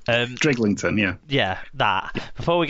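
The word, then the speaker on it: Drighlington: Because I can't pronounce this word. By the way, before we get to Drillington... Driglington, yeah.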